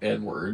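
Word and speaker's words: Eadweard: Eid word. Edward. It's spelled so weird. It's spelled E A D W E A R D is how he's spelled.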